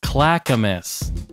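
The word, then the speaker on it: Clackamas: it is kind of an interesting one to pronounce it's called Clackamus c l a c k a m a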